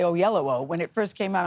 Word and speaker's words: Oyelowo: thing is people now know how to say o yellow o when it first came out I'm like how